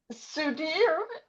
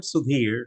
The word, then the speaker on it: Sudhir: Um uh Sudir, is that how you say your name? And please unmute yourself. Thank you. Yeah, I am Sudhir. Sudhir, you spelled it, you pronounced it right.